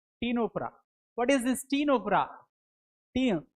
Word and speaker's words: Ctenophora: The phylum Ctenophora, c t e n o p h o r a. Ctenophora. What is this ctenophora? Ctenophora. See, c silent. You shouldn't pronounce the word c here.